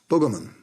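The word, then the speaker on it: Bwgcolman: festival called bwg coleman it's an aboriginal word pronounced boogerman the mayor of palm island alf lacy told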